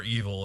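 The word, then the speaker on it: REvil: names actually pronounced are evil it's a ransomware evil even though evil is not spelled like what you would think but they are pretty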